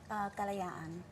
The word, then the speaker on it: Kalayaan: We have to ask, how do you pronounce the title of your book? Kalayaan.